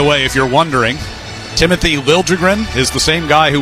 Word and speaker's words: Liljegren: Traded back at the end of October and asked when he got to San Jose if they would correct the pronunciation of his name after, 5 years in Toronto? So it is now Liljegren.